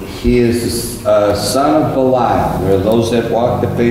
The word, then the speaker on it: Belial: Belial, that's three syllables.